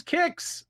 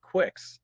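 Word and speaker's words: Qix: on this episode full reveal guys i did pronounce it correctly it is kicks it is but buzzkill over here was pronouncing it quicks yeah it's the pennsylvania dutch i mean what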